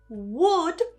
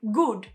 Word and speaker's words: would: Many Spanish speakers will change this and they'll say something like good, like could you help me? So, make sure that you're not pronouncing this W like a G here.